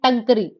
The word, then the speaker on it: टांकरी: रखी है, शारदा एंड टंकरी, टांकरी टंकरी जैसे मर्जी प्रोनाउंस कर लो, मर्जी आपकी है, ठीक है।